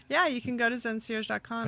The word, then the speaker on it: ZenCierge.com: Yeah, so it's like a concierge. Like when you go to the hotel and you have a concierge at the hotel that aren't like those just the hooks you greatest up with people?